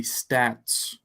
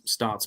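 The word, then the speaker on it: Staats: transferred to Texas Tech I heard that pronounced stats and so I just went with it there's two A's there so I thought okay maybe it's stots but Joey called him Rusty stats and so I I'm sure Joey knows better than just about anyone how to pronounced so I guess we'll call him Rusty stats from now on instead of stots somebody commented that he it rhymes with snaps which I saw that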